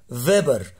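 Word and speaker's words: Weber: خلي بالك دايما في الالماني الدبليو تتنطق في، فيبر فاشنر لو، ده مهم جدا، فيبر فاشنر.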